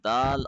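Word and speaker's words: دال: I mean is that we will not touch the tongue too hard in the letter but we will have to be more gentler and softer and subtler in the letter Dal as compared to Tha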